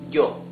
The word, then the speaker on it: yo: Then we have some Spanish-speaking countries pronounce the Y as sh. Some others, mostly, pronounce it like y. So let's better use y. So this would be yo.